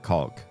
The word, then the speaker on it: caulk: And the funny thing about American pronunciation is you can pronounce it caulk which sort of implies the au and sort of uh subtly implies the l.